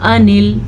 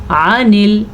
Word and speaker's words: عن: عن کوئی اس کو پڑھتا ہوگا انل، تو اپنی درستگی فرما لیں. عن ٹھیک ہے. عین کا تلفظ کلیئر کریں اور اس کی باقاعدہ آواز آنی چاہیے.